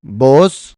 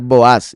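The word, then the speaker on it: Boaz: Vos es como aparece normalmente o traducido el nombre del esposo de Ruth, pero se debería pronunciar Boas y es el mismo nombre del pilar.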